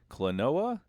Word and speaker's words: Klonoa: in the Game Boy Advance library, we've got Klonoa. Am I pronouncing that right?